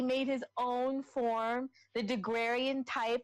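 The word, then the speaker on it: Daguerre: You had Deguerre, is that how you pronounce his name?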